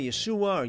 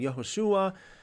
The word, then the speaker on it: Yeshua: why do you say Yeshua yahushua well that's the Hebrew the original Hebrew pronunciation now the New Testament